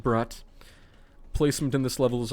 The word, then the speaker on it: Brut: Brat, I think it's pronounced Brat.